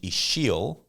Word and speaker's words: Ixil: And even when Dom was saying the language Ixil, and then I said that it was spelled with an X, people might be like, what the heck?